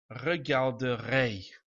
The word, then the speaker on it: regarderai: So, sticking with regarder, we will get, for I will watch, je regarderai. And again, we pronounce the R in this now. Regarder, usually, je regarderai.